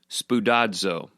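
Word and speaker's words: σπουδάζω: a look at it on your own, it's pronounced spudadzo, which is actually really fun to say. I recommend right now, wherever you are, you say the word spudado.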